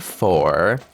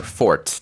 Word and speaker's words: fort: rigorous training to become a splendid four, or fort, depends on, you know, whether English or French. I know that the T is silent in French, but anyways, his wave attack is actually just loud yelling.